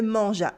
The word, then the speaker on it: mangea: Yes, if we want to dig into pronunciation, you might wonder why there is a silent E in there, and that's a good question. It's there to remind you that you use it as a soft sound, as in giraffe, and not a hard one, as in gift.